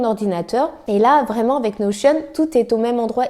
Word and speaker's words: Notion: Alors Notion ou Notion, selon comment on le prononce, moi je dis Notion.